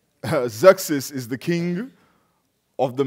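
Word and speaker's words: Xerxes: BC and zexis now one of the most difficult names that have had to pronounce in the Bible is axis because it is spelled x ER x es zexis zexis is the king of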